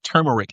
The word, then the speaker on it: turmeric: I have I have um cozy chamomile tea with turmeric in it. I always say it wrong. Turmeric.